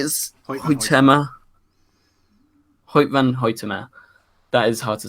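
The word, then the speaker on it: Hoyte van Hoytema: Hoyt van Hoytema.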